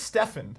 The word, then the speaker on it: Stefan: We have Steven the Squirrel. Thank you, Steven, for holding that for me. It's pronounced Stefan.